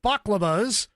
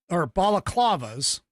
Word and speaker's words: balaclavas: officers wearing masks and baklavas, or balaclavas. I always freaking mispronounce that. Baklava is a dessert.